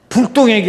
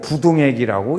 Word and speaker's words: 부동액: 그 불자는 아니 불자인데 이렇게 읽을 때는 부자라고 부동액이라고 읽습니다. 설명을 한 거예요. 불동액이 아니고 부동액이라고 읽습니다.